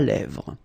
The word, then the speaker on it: lèvres: Un crayon à lèvres. Un rouge à lèvres. Same thing here, final S not pronounced, and then this E accent grave here, it gives you the E, really open sound.